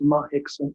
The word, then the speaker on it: Mahixon: Second sentence, Mahixon, it's spelled Hickson here. It is Mahixon, M-A-H, correction, M-A-H-I-X-O-N, just for you.